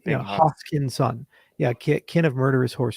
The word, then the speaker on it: Hoskinson: Is it Hoskinson or Hoskinson? Like, what is it? What's the right way to say it? Hoskinson. Are you sure about that? You're sure? Son. Hoskinson. Hoskinson. Hey, Justin, you got it. Like the Hoss.